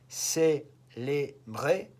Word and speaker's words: célébrer: Look at how the accent on the E changes. That's just a pronunciation thing. Célébrer, célèbre.